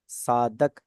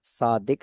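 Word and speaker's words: صادق: सच बोलने वाला है साधक अरब कोई सुनेगा ना तो वो कहेगा यह गलत बोल रहा सादिक लज होता है साधक नहीं होता है ना हर जुबान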